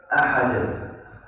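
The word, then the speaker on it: أحد: Jangan ahad. Kalau qul huwallahu ahad. Jangan ahad. Ya, ini ya. Yang harus waktu bacanya qul huwallahu ahad.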